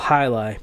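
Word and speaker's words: jai alai: kind of mix and it's called high life but it's spelt j ai al AI and I just went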